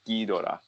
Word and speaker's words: Ghidorah: King Ghidorah. Yeah. Most awesome. Or Ghidorah. Drawing of it in that anime. Tyson, is it Ghidorah or Ghidorah? Pronouncing it the Japanese ways, it is Ghidorah.